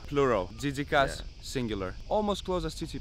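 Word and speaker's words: τζίτζικας: say crickets in greeka remember that jika plural Jas singular almost close as TI pass but not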